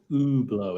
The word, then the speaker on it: Hublot: i pronounce it ooh i don't pronounce the h i pronounce it oo blow is that correct yeah it is i